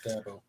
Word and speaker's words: Dabo: when he would try to pronounce Dat Boy in reference to Dabo, it would come out like Dabo, and that's where the nickname stuck. So he's just Dabo now. It's Dabo.